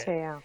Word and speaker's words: Te'o: Okay, so Manti Te'o was Manti Te'o is how you say it. Te'o.